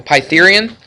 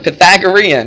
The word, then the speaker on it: Pythagorean: to find a b the pythurian Pythagorean right it's a Pythagorean theorem let's write that down